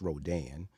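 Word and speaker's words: Rodin: one Augusta Francois Rodan which is spelled r-o-d-i-n spelling uh pronouncing French Rodan uh one of my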